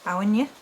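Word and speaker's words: Áine: it looks like a in but it is pronounced awinya there are slight variations on the pronunciation before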